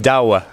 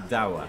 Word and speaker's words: Douwe: really hard to pronounce there's one country in the world that can actually pronounce it and that is the Netherlands of course always dawa dawa dawa dawa dawa it's